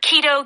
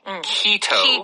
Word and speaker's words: keto: so this keto diet in Korean you usually pronounce the word KET uh but it is at least in American English keto keto yeah so there